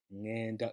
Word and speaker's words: ngenda: It's ngenda. So you bring that ng together to create that sound ng, as in Lupita Nyong'o or song.